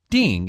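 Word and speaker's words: 订: nice who booked it ding is a new word to me yes ding means to book it is in four songs means i booked it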